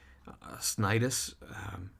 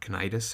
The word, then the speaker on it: Cnidus: Cnidus, or Cnidus, however you want to pronounce that, the CN sound.